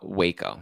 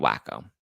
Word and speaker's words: Waco: why is she following Waco not wacko sorry wo wo Texas wacko